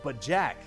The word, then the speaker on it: BoJack: of that bojack horseman that was supposed to be pronounced but jack but after i heard